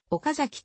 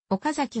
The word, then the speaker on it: 岡崎: の中でも放映開始当初は岡崎と発音していたは途中から平板な発音に改められた 2016 年には nhk において平板な発音がは地元放送局アクセントとして正式に許容されるようになった